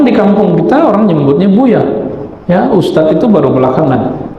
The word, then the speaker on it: Buya: guru tuanku Angku e Buya bukan buaya ya Saya takut kalau dipanggil Buya aslinya takut ada yang metnya jadi buaya nauzubillah nauzubillah namun di kampung kita orang nyebutnya Buya ya Ustaz itu baru